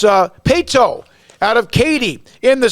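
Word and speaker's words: Paetow: And then a school that I had to constantly, how do you pronounce the name? Just being honest. It's Pato out of Katy.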